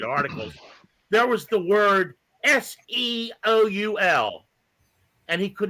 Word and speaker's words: Seoul: there was the word s-e-o-u-l and he could not pronounce it he how do you pronounce this he goes Seal Seal it's Seoul South Korea you